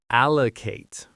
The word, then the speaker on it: allocate: Notice how the a at the end is a long a sound like in late. Allocate.